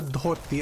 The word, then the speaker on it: dhoti: Oh, the pants are called a dhoti. I'll type it in. So with the Hindi and Odia, we pronounce letters a little different. So DH is the. That's not a thing, I don't think, in English.